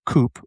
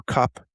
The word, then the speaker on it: Cope: two paleontologists, which this is an amazing name, by the way, Edward Drinker Coupe or Cup. I think it's Cope.